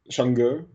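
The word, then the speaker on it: Chang'e: So it's Chang, and then the E is pronounced like the E in her, but without the R sound.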